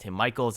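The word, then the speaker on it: Michels: when he runs against tim michaels i've been told that is the pronunciation and if you look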